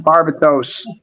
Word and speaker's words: Barbatos: Yeah, people pronounce it Barbados Rex. It's not. It's Barbados Rex. Yeah, Barbatos.